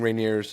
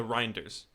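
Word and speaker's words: Reijnders: He's defending Rineers. Is that how you say his name? Reineers, whatever his name is. Uh Reinders.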